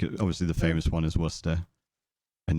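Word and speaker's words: Worcester: wanted to blow like your mind for phonetic pronunciation just look at English place names like obviously the famous one is Worster and it's like how the F how you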